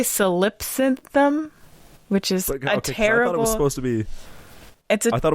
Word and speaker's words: Solipsynthm: I'm also terribly dyslexic, so this is solipsynthum. Yeah, that's how I would pronounce it. That sounds right.